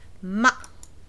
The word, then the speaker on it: 吗: So we pronounce this ma, like this. It's not the ma, down and up. It is a little staccato, little sudden, little light sound like ma, like this, ma, as if you're cut in two, right?